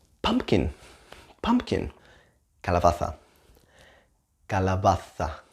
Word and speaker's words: calabaza: Calabaza, calabaza.